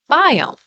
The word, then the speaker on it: biome: It rhymes with home. Biome.